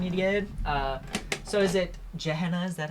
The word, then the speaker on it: Gehenna: So is it Gehenna? Is that how you pronounce it? Gehenna, yeah.